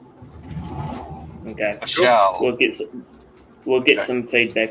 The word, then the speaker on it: Vishal: We met Prashant and Vishal. It's Vishal. It's like Michelle, but with a V. Okay. Vishal.